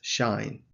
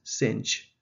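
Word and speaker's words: sinh: would pronounce it as shine so shine x shine theta and also it rhymes with the word shine in america it is pronounced sinch it rhymes with the word pinch so those are the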